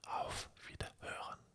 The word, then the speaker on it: auf Wiederhören: Attention, il y a un H. Le H se prononce. En français, il est toujours muet. Par contre, tu vas dire hören. Le H, tu expulses l'air. En français, tu l'aspires, on ne l'entend pas.